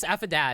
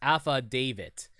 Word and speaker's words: affidavit: write it B boy affid it uh describes the man who stayed with Miss May at the hotel on the night of the murder it's pronounced AFA davit AFA davit gotcha thank you well boys AFA davit